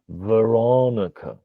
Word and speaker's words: Veronica: information through contrast so you need to pick one syllable and make it louder because that creates a bump in contrast and then you reduce the remaining syllables so the same name would be the ra what that gives you is Veronica is quite different right Veronica Veronica and